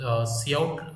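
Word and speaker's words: cout: आउट लिखते ठीक है ए काउट नहीं है सीय का नहीं इसका प्रोनाउंस होता है सी ओ यटी आ सी एस डब सी आउट य वाला है उसका प्रोनाउंस ठीक है सी आउट सो यह वाला ध्यान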